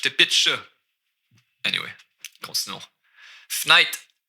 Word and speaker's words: fenêtre: Fenêtre. Au lieu de fenêtre, j'ai skippé une syllabe ici. Fenêtre, fenêtre. Fenêtre. Par la fenêtre. Même j'enlèverais peut-être le R.